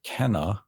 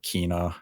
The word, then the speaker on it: Kena: And that is Kena, or Kina, however you want to pronounce the game. Even in the game itself, the pronunciation of her name changed.